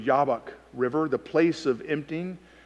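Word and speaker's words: Jabbok: name itself sounds brutal jab bach it would be pronounced in the hebrew yabak river the place of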